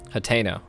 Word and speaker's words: Hateno: Hateno. Oh, good to know. So that's how you pronounce it.